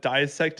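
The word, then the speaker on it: Diesect: My EP of the year is uh Hide from the Light by a band called Dissect, but Dissect is spelled D I E S Ect T.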